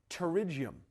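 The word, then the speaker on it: pterygium: Terigium the P is silent.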